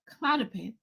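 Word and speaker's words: Klonopin: Ask your doctor for the Clonopin.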